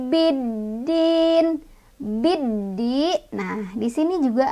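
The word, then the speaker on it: بِالدِّينِ: Cara bacanya alif lamnya nggak dibaca, kita langsung baca ke huruf dal ya.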